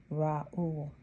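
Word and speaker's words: Reuel: Strong's number 7467, pronounced Raul.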